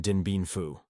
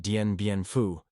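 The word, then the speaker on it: Dien Bien Phu: I don't want any damn Dinbu, he reportedly told Joint Chiefs Chairman, General Earl Wheeler, mispronouncing the name of the famous French defeat. The comparison was apt. Like the French at Denbianfu, the Marines at Kesan were surrounded, dependent on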